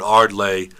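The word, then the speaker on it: Ardleigh: usually person will say the word arlay then another person will say what what huh how do you do how do you spell that and then they they'll come on and spell it for you um letter by letter so a r d capital a r d l e i g h uh number two number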